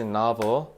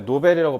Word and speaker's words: novel: 자 그리고 완전히 새로운 영어로 뭐라고 그렇지 novel. 얘들아 너네 노벨이라고 발음하면 노벨상이야. 알겠지? novel 나로 발음해야 돼.